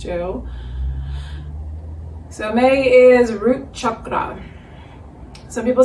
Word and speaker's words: chakra: So in Sanskrit, it's really more of a U sound than an A. It's more chakra, the traditional pronunciation, as I understand it.